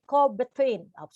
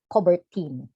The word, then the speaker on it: Coubertin: And in 1894, the Honorable Pierre de Coubertin, I'm sorry, Pierre de Coubertin.